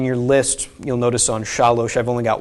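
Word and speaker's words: שָׁלוֹשׁ: So this is pronounced shalosh, not shalsh. Okay, if it was shalsh, there would be a shva under here.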